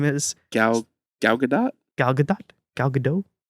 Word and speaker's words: Gal Gadot: Gal Gadot? Gal Gadot? Gal Gadot? I don't think you pronounce the T.